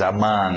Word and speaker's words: among: Aí o O, mesmo som, among, aquele NG no nariz, among.